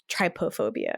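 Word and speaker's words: trypophobia: it's called I looked it up it's called triopia triopia I think is how you say it um and it's the fear of a cluster of tiny Hol tripofobia yeah sorry say again say again what it's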